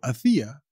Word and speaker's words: hacía: Y chavales, cuidado con el acento en la I que lo lleva siempre, ¿eh?